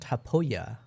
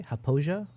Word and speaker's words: Hapoa: Mindful says it is pronounced Hapoa. What did I say? Hapoia. Okay, my bad.